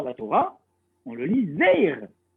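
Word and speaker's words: זר: Donc ça se lit Zar, en vérité. Des Karinan. Le problème, c'est qu'on le lit comment dans la Torah? On le lit Zeir. On le prononce E. On ne le prononce pas A.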